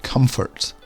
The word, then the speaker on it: comfort: popular then we have comfort comfort not conformed often here comfort or comfortable but the emphasis should be at the start of the word comfort the next group starts with